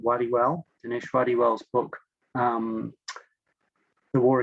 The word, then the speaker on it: Wadiwel: ago was Dinesh, and I'm not sure how you would pronounce it in India, but in Australia he pronounces it Wadiwell.